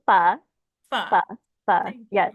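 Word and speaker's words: phở: My last silly question is it faux or fa? Tell us Oh, the correct pronunciation because I'm always trying to figure it out. it's pho.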